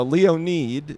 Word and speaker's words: Leonid: Leonid. It's Ukrainian.